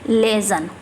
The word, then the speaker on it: liaison: इसको क्या प्रोनाउंस करेंगे? लेजन।